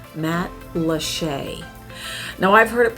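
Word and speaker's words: Matlacha: reminds you of key west and it's called matt lachey now i've heard it pronounced many many different ways but the most popular wrong way to say it is matalacha don't say that because then you're a tourist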